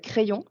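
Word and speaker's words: Craiyon: Vous pouvez déjà jouer avec Crayon, donc qui s'écrit comme un crayon, sauf que c'est AI au lieu de A.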